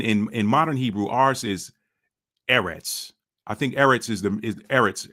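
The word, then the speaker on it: ארץ: If you get rid of the nikud and you just pronounce that in that Paleo Hebrew style, that would be arts.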